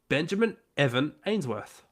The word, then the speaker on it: Benjamin Evan Ainsworth: Benjamin Evan Ainsworth.